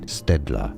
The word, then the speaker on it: Staedtler: Staedtler. In English, you'd say Staedtler.